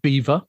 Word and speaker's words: Belvoir: It was created by the Duchess of, it's spelt Belvoir, but it was pronounced Beaver.